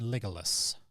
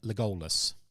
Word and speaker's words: Legolas: Legolas or Legolas? Legolas. It's Lego, Lego, LAS, Legolas.